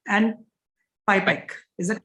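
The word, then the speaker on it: PIPAC: before i start i want to get the pronunciation right it's hipec and pi pike is that correct absolutely so let me ask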